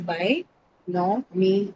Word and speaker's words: binomial: A lot of people would say binomial. So they'll say it's a year uh diffic. That's not the case. The binomial is by no me. Okay. So me and L are two different syllables.